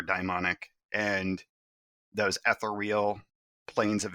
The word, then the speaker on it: daimonic: Other people may use the pronunciation daemonic. I prefer daimonic.